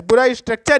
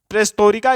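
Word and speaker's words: перестройка: तो इन्होंने प्रेस्टोरिका की नीति लेकर आए। इसको आप प्रेस्टोरिका मत पढ़िएगा, क्योंकि जो है रसियन जो पीपुल्स होते हैं वो टी को प्रोनाउंस टा को ता कहते हैं।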